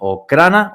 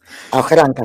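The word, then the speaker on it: Охранка: llamaba el servicio secreto la Okrana o algo así, ¿cómo se dice? Ojranka se llama.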